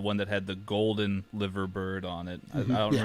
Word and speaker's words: Liver bird: commemorative Liver bird. 125. Yeah, I think it was. Not a liver bird, it's a liver bird. Liver. I mean, it's spelled with an I.